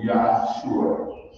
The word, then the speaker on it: Yahshua: And the next part of his name, which is pronounced Shua, in Hebrew theology, it means salvation. So his name is Yahshua.